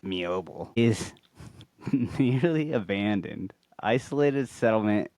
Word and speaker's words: Meoble: Now the crafting hamlet of Mioel pronounced pronounced Mioel is nearly abandoned isolated settlement in South Morar Highland Scotland located on the eastern banks of the river Mville.